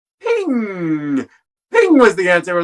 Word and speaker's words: PNG: everyone pronounces it as p m g it turns out that it's creator specified that the correct pronunciation is ping ping was the answer